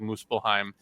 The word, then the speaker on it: Muspelheim: I think it's pronounced like Muspelheim, or is it?